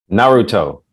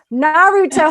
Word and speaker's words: Naruto: It's Naruto. Thank you, Catero. Naruto.